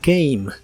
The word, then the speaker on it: came: En el pasado es came. En este caso la A se pronuncia como A y la E del final es muda de nuevo.